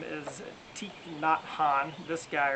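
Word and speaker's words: Thich Nhat Hanh: very well known antique not han t-h-i-c-h n-h-a-t-h-a-n-h i've always pronounced his name wrong but i think i finally got it pretty much right not han martin luther king jr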